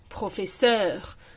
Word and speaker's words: professeur: Finir, professeur, trottoir, the R also is always pronounced.